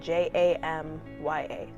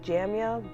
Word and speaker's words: Jamya: name and my age so my name is jamya and my name is spelled J AM yaa so kind of looks like jammy oh but it's jamya also I'm 16 years